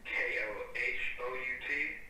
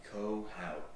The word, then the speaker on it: Kohout: And then last name, was it K-O-H-O-U-T? Yes, sir. Yes, sir. Perfect. How do you pronounce that, if I may ask? Kohout.